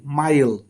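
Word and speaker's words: mile: শিখি সেটা হলো ওয়ার্ডের শেষে ই থাকলে ইর উচ্চারণ সাইলেন্ট থাকে দ্যাট মিন্স ইটাকে আমরা লেটার হিসেবে গণ্য করি না দ্যাট মিন্স এখানে লেখা আছে এম আই এলই মাইল মাইল মানে দৈর্ঘের যে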